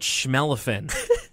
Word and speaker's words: Shmelephant: song is called planet shmelephant to rhyme with elephant it's by arthur and